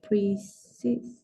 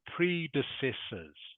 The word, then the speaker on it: predecessors: and avoid the mistake of our pressor okay it is pronounced predecessors for me predecessor predecessors